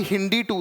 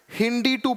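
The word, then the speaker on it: HindII: होंगे कि पहला आरी हिंदी 2 था, हिंदी 2 पढ़ते हैं इसको, हिंदी 2 ऐसे इसका प्रोनाउंसिएशन है, हिंद 2 नहीं पढ़ते हैं, हिंदी 2, राइट, ऐसे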